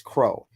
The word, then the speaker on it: CRO: call a c token crow cro stands we say we pronounce it as Crow Crow is part of